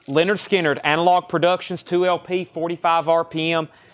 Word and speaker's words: Lynyrd Skynyrd: okay we have Lynyrd Skynyrd pronounced Lynyrd Skynyrd analog Productions 2lp 45 RPM 69.99 Lynyrd Skynyrd pronounced Lynyrd Skynyrd 69 99.